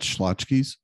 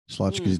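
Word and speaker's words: Schlotzsky's: to tell you that schlozkies slotsky's deli oh okay that's what that's pronounced okay i've heard that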